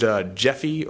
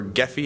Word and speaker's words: Gephi: But you can export it, and I don't know if any of you used Gephi or Gephi. It's spelled with a G, so it's one of those GIF things.